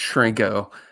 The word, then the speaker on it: Chrenko: is a good example so it's pronounced shrinko so you with a ch so i'm i've been